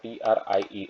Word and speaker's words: trie: This is how you can write that trie, T-R-I-E, okay? And you will pronounce it as a T-R-Y, okay?